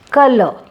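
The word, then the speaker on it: colour: Color. It is not color. Actually R is silent here.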